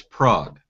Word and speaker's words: Prague: and I said you you live in Prague and he got really angry and he said that's prag yeah okay sure pra again I'm I'm certain he's pronouncing it wrong I know where it